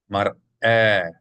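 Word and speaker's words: מַרְאֶה: You should hear two clearly distinct syllables. رأس مرأة, not mare, not mare, but mar, break, should be a glottal stop sound from the aleph.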